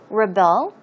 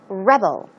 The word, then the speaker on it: rebel: So, rebel and rebel. Verb form once again, that is to rebel. As I said, the stress goes on the second syllable.